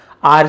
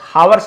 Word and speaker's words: hours: 1 hour, 2 hour, 3, 4, 5, 6 hour पास, इसे आप आवर्स भी बोल सकते हैं, आवर्स भी बोल सकते हैं, बट हावर्स नहीं बोलना है, एच आपको नहीं पढ़ना है।